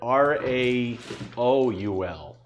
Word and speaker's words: Raoul: Yeah, it's spelled R-A-O-U-L. Raoul. Not this.